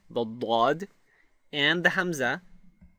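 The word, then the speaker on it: ضاد: So, for example, the Daad is pronounced when you place your tongue flat against the roof of your mouth and then push away from the roof of the mouth with the tongue while vibrating the vocal cords. So it sounds like this. Da, da, da.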